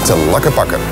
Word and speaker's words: Tlaquepaque: A place you certainly have to visit is Tlaquepaque. Yes, pronounce it again, Tlaquepaque.